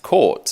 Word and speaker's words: Caught: So it's just pronounced Court, as in how it's spelled, but it's obviously an unusual surname.